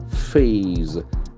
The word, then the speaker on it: phase: phasing out fossil fuels it's a beautiful rhyming of f the sound F here F phase when you phase out